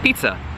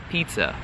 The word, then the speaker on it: pizza: The letter I in Italian is pronounced like the letter E in English, okay?